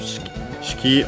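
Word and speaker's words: 式: well, first Naru accented is oh, by the way, I don't think I mentioned the accent of Shiki on its own is accented on the key, on the last more.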